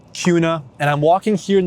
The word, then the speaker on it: Kuna: It looks like Kana or Kuna, but it's pronounced kind of like a Q. It's called Kuna.